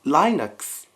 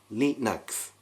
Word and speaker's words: Linux: example Linux, the OS Naturally, I assumed it was pronounced lie-nucks as it turns out just like Japanese, it was lee-nucks Not exactly a brand